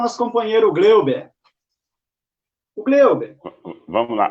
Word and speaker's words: Hugleiber: O Gleuber. Vamos lá. Ô, Rodrigo, eu só vou fazer uma correção aí, tá? Sim. Na pronúncia, o Gleuber.